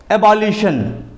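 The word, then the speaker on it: abolition: TION की तरफ कि अगर अंग्रेजी वर्ड के लास्ट में TION आता है तो वहाँ पर भी उसका उच्चारण शन किया जाएगा, शन उच्चारित किया जाएगा। जिस तरह से एबॉलिशन, एबॉलिशन का मतलब होता है खात्मा, समाप्ति, एबॉलिशन।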